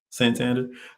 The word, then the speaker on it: Santander: Santander.